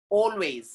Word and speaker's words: always: So whenever A is coming with L, sound will become O in English.